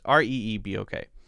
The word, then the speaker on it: Reebok: It's Reebok. Reebok, fairly popular, maybe becoming less popular. I don't know. That is pronounced.